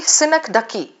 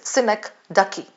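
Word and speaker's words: synecdoche: Synak ducky. S Y N E C D O C H E. That's how you pronounce it. Sinek Ducky.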